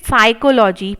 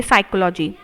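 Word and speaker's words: psychology: 28 पर कोलॉजी इट इस साइकोलॉजी पी आपका साइलेंट रहेगा और सिर्फ आप इस वर्ड को पढ़ेंगे साइकोलॉजी और ऐसे ही इसमें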